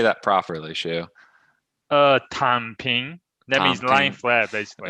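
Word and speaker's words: 躺平: Was it Tang Ping? How do you say that properly, Shu? Tan Ping.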